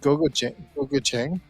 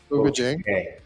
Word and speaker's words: gochujang: Gochujang? So that comes, Gochujang.